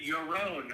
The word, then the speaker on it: Yaron: hear me yes it's your own i believe is how you pronounce this oh forgive me anyway